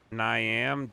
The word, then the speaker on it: Niamh: Her name is Niam Dolan, but it's spelled Niam Dolan.